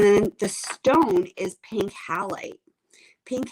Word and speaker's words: halite: others fascinating and then the stone is pink halite pink halite and it's spelled h-a-l-i-t-e for those of you who are